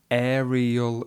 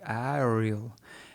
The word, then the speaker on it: aerial: Later in the video, I do understand what she said but she wanted to pronounce the word "aerial." "Aerial yoga." And she said something like, "Ariel" and it, I didn't understand that and this caused me something called strain.